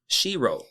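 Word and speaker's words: shiro: And castle is shirro. Shirro is spelled s h i r o.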